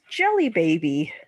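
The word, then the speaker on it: Djelibeybi: takes place in is jelly baby yes it is it's spelled DJ e l b y b i that's still jelly baby that's definitely Jelly Baby did not catch that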